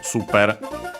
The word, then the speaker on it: スーパー: Notice the long vowel for both the U and the A. Also the long A instead of super, because yeah, Japanese doesn't have the sound, and so it becomes similar.